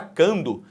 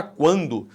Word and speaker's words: quando: Aqui, ó, esse U, ele é pronunciado. Você não fala quando, você fala quando. Se você fala quando, esse U é pronunciado, o que existe é um ditongo.